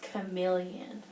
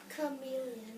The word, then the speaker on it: chameleon: a colorful chameleon a colorful chameleon that's actually pronounced chameleon chameleon chameleon that's right guys can everybody say chameleon